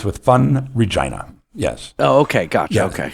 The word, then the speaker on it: Regina: just say vagina I said the city that rhymes with fun Regina yes oh okay gotcha okay yeah Deadpool first